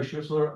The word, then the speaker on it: Schuessler: It gets butchered a lot, but that was perfect. Hi, I'm Schistler.